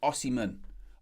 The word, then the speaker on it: Osimhen: chat already, good morning Ajax, saying about the pronunciations, asking it's Osimhen.